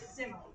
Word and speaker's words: simile: It looks like the word smile. I get tripped up on that when I was younger, but it's we pronounce it simo. Totally different.